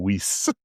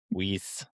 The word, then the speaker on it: Vis: that uh in in Latin pronunciation v's are commonly actually pronounced as w's in our common language. So instead of V for this entire book, we really should be calling him Whis.